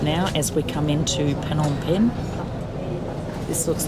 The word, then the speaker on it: Phnom Penh: we always called it Phnom Penh because we were stupid, but it is Phnom Penh, and that is how the Khmer people pronounce it, so that makes it correct.